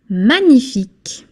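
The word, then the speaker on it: magnifique: Manific manif you don't pronounce the g manic manif s C es sk is another way to ask a question.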